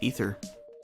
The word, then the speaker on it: aether: pronounce that an ether I always thought that spelling of the word was aether but then Final Fantasy 14 taught me that that's not the case it's pronounced ether unless they're wrong but